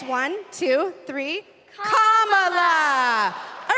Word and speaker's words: Kamala: do you pronounce it first you say comma like a comma in a sentence then you say la like la la la la la put it together and it's one two three Comm La all right so let's